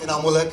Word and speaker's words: इनामुल हक: And little correction, मेरा नाम बड़ा बिगड़ता जा रहा है। मैं शहर में नाम कमाने आया था, कभी स्पेलिंग और कभी प्रोनाउंसिएशन। मेरा नाम इनामुल हक है एंड आई एम नॉट a tourist. My name is इनामुल हक एंड आई एम नॉट a tourist, so please make a correction.